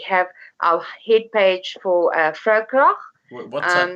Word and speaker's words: Vrouekrag: Okay, now for people who are not aware, Vroue Krag is spelled VROUEKRAG. Yes. Okay. Definitely. South Africa. And it's not the sea. Oh, It's the Africa, like in Afrikaans. so it's one word, Fraukrach, South Africa, one word.